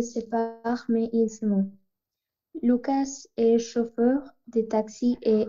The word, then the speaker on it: Lucas: Decimos Lucas. Lucas, Nicolás, Tomás, ¿ok? Esa S de esos nombres de personas no, no se pronuncia.